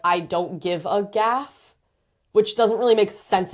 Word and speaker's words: GAF: Gaff is g a f. That's how it's spelled and we pronounce it gaff.